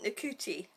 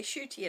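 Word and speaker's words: Ncuti: that came out, and they were saying Nakuti, and I thought, yeah, well, that's how it's spelt, isn't it? And then other people say Shooty, and I thought, oh, that's interesting, right?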